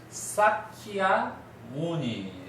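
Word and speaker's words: Śākyamuni: 여기서 발음 되는데 이제 원래 이제 부처님은 사키아 무니 따라해 보세요 사키아 무니 키아니 예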